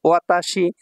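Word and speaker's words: わたし: কি কি বর্ণ আছে ওয়া তাসি ওয়া তাসি ওয়াতাশি জাপানিজ ভাষায় যদি আপনি বর্ণের উচ্চারণ জানায় তাহলে জাপানিজ ভাষা পড়তে পারবেন একদমই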